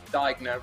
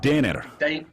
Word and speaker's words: Denner: go i've been told we're getting the pronunciation of um diagno wrong so i'm gonna have to clear it with uh reese however yeah you gotta you gotta do it with the german accent dinner philip denner dana okay there we